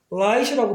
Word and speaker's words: light: 이렇게 돼 있을 때, 이거를 잘못 발음해서, 만약에 자음이 두 개 있으니까, 하나, 두 개로 생각하고, 단모음으로 발음해버리면, 리시 돼요. 그럼 이거하고 헷갈린단 말이에요, 또. 그러니까 그런 거를 구별하기 위해서 아마 이런 현상이 발생하지 않을까. 그래서 light이라고 발음합니다.